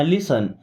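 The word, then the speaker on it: listen: Okay, लिसन टू मी, देखिए यहाँ पे अब टी साइलेंट होता है, लिस्टन नहीं पढ़ना, लिसन, लिसन मीन्स होता है सुनो।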